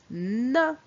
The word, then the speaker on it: nain: Pour la première image, c'est un nain. Ici, le son 1 s'écrit A-I-N.